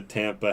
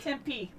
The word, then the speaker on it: Tempe: immigrants stayed at the Tampa House. Tempe, Tempe, Tempe, Tempe, Tampa. Sorry, my wife's from Arizona, so she's not happy that I'm mispronouncing Arizona city names.